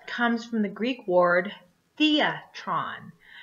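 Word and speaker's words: θέατρον: taking so theater comes from the Greek word Theatron Theatron which is spelled th EA t ro n the atrani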